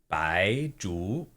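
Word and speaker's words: 白术: Maybe here it would be pronounced Zhu, but Shu is like skill. Ooh, awesome. Or like surgery is shou shu. Bai Zhu.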